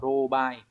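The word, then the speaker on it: 狼狽: Còn cái trường hợp đọc là âm onyomi ấy, nó sẽ đọc là robai này, cũng mang nghĩa tương tự luôn.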